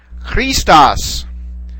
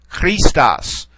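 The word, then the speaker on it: Χριστός: Christos. Christos. Okay. Notice we have an accent over this particular syllable. All right. That lets us know to accent that particular syllable when we're pronouncing the word. Christos.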